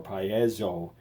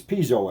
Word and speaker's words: piezo: pond will cringe and probably say that it's pronounced some other oddball way like by Yee's or payaso element but you're wrong it's piezo element I don't care what